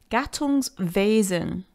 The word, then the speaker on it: Gattungswesen: So it's Gattungswesen, not Wesen, not Wesen, Wesen.